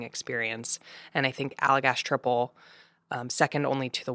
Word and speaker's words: Tripel: little weird um it's t r i p e l we just pronounce it like triple not tripel yeah but you know